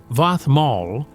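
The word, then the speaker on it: vaðmál: Vadmal, pronounced Vathmal, was standardized woven woolen cloth.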